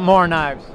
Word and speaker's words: Morakniv: Ken, tell me about Mora knives. Well, Mora's knives are all made in Sweden in a town called Mora. They're actually pronounced, they call them Morakniv.